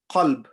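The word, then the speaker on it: قلب: So imagine it was meant to be a qalb, qaf with a big qaf, and you didn't pronounce it the way it was meant to be pronounced, and you read it with a small qaf. The meaning changes because the big qaf means heart and kaf means dog.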